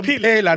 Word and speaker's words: Mpela: It's a mpela, not Pella.